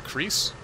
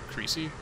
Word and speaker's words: Creese: We have Christopher Creese. Creasy. I always think that should be pronounced Creasy when I see it.